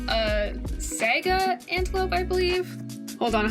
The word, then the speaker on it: saiga: this antelope, and this antelope is called a saiga antelope, I believe. Hold on, how do you pronounce that?